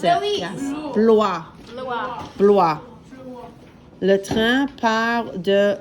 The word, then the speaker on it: Blois: Blois. How do you think we'd pronounce it? Louis. Yes. Blois.